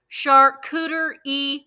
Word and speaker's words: charcuterie: And y'all, if you have not been to Aldi's has an amazing, okay, Carrie said, charcuterie board. Charcuterie board. That's how it's pronounced.